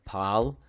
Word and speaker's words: par: on the end because you're gonna hear it pronounced like pal and um in fact